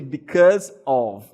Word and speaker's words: because of: Então veja aqui, ah, você tem aqui because of, because of. E atenção paraa pronúncia, tá? Que aqui é com som de V no final.